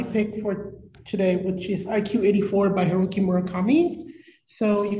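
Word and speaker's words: 1Q84: called iq 84 because in japanese number nine is pronounced as q so they kind of just did a play with it so it's separated in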